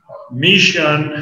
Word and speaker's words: mission: And the word mission has other pronunciation.